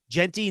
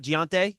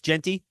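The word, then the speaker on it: Jeanty: cob and him so it is jenty not gonte it's Genty you're asking me to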